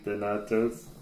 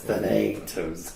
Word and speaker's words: Thanatos: Thank you, Thanatos. That's Thanatos.